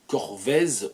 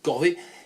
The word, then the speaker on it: Corvez: Et le patronyme c'est Corvez, qu'on peut prononcer aussi Corvée, C-O-R-V-E-Z.